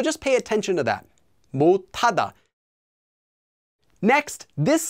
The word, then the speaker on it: 못하다: This one, 못, by itself, becomes pronounced as 못 due to regular sound change rules where that letter cannot be pronounced, so it becomes a tigut, as I've written on the slide. That sound then combines with the hiat, that H sound, and becomes tada, 못하다, 못하다.